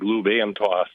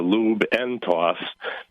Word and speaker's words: Lube N Toss: And then I found that when people were pronouncing it, they didn't annunciate the letter D. So it sounded like lube and toss. So that's uh so I decided to go with the lube n toss.